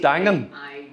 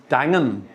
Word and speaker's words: Daingean: Is that how you pronounce it? Dangan. Daingean. Yes. Dangan.